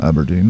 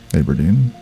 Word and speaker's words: Aberdeen: One of the uh interesting things about um Aberdine or Aberdeene depending on the pronunciation is different depending on really where you're from and who you're talking to.